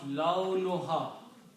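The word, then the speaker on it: لونها: Ma, laun, we say laun, but the actual word is launun. Launun means color. And when you combine these two words together, launun and ha, you pronounce launuha.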